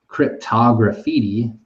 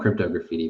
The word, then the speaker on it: Cryptograffiti: a shout out to Cryptograffiti, and I usually call him Crypto Graffiti, but he I should be pronouncing his name Cryptograffiti.